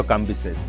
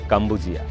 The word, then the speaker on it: কাম্বিসেস: তার ছেলে দ্বিতীয় কাম্বিসেস পারসিক ভাষায় যার নামের প্রকৃত উচ্চারণ কাম্বুজিয়া তিনিও ছিলেন পিতার তার মতই রণকুশলী সমরবীর।